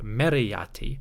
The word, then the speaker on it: Meritaten: Adapting that to the name Meritaten, we may have a pronunciation closer to Meriyati or simply Mayati.